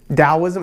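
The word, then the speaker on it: Daoism: you'll see it PR spelled with a d dosm is pronounced like that whether it has a t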